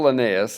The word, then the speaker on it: Linnaeus: classifying living things so Carl Linnaeus is how you pronounce that name classified organisms into two